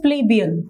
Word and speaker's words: plebeian: Pronunciation is plebeian.